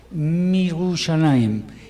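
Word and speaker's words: מירושלים: Si decimos desde Jerusalén, entonces Mirushalayim, y aquí y Jerusalén, Virushalayim.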